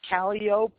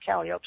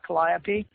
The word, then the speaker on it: Calliope: Yeah, it's Calliope Street, it's Calliope Street, not Calliope.